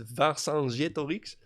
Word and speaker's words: Vercingetorix: You may also have heard of the Celtic Vercingetorix, Vercingetorix. The way the French pronounce it is Vercingetorix.